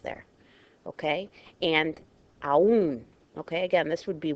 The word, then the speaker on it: aún: Accent on a weak, an I or U breaks the diphthong and gives you two separate syllables there. Okay, and aún.